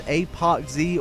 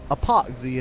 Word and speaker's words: ApocZ: we got today is apoxie or epoxy however you really want to pronounce it i say apoxie just because it rolls off the tongue just a little bit better before we get into